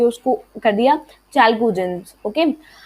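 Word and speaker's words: chalcogens: सो चैल को and gents. Okay, सी देखो मैंने कैसे तोड़ के उसको कर दिया चैल्कोजेंस.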